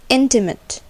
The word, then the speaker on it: intimate: Mate, which is long, and intimate, where mate sounds somewhat like met, etc.